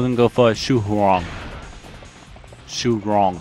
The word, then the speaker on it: Xu Huang: Shu Huang, I should say. It sounds like it says Shu Huang. But yeah, I pronounced that really wrong there, but Shu Huang.